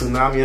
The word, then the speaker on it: tsunami: tsunami of sound yes tsunami assan and i know it starts with the t but the t is silent you get what i'm